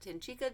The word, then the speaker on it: Tincika: I think that's how you pronounce it. It's Tincika. Some people pronounce it Tincika Designs.